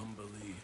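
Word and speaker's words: Umberlee: What do you know of Umberly Astarion? Oh, lots. Rhymes with undersea, for one thing.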